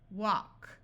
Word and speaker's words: walk: L still says L if you have l k or l m then the L will be silent but L plus another